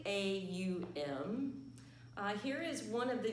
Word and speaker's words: Om: may have heard that sound or syllable of ohm and in modern times it spelled om but it's actually a um here is one of